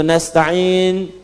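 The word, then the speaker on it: نستعين: iyaka na'budu wa iyaka nastain. Yang kedua itu nastain dibacanya menggunakan fathah ujungnya sukun. Jika ada yang baca menggunakan kasrah itu dari bani Tamim, bani Asad di antaranya.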